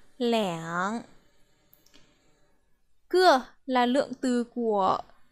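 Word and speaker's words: 两: Khi số từ 2 đi với lượng từ, chúng ta sẽ đọc là liǎng.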